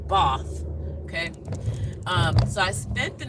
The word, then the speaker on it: Bath: a sleepover in Bath, spelled Bath, Bath, like Americans say Bath, but it's Bath.